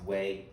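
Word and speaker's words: Huế: the whole Tet Offensive is this place called Wayne City I know it spelled hu e q right but in Vietnam is pronounced way and one of my favorite movies full-metal-jacket the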